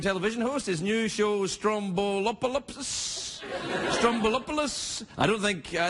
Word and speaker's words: Stroumboulopoulos: without being a jerk about it you said Stroumboulopoulos perfect right perfect people must have given you